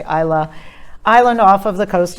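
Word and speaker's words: Islay: to go there for ilay hopefully I'm saying it right I've always said I lay then I heard people say Isla island off of the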